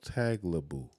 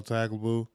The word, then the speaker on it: Tagliabue: Paul Tagliabue.